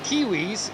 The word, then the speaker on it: Kiwis: been informed uh that christopher uh kiwis is pronounced as i just said it like uh kiwis so all right well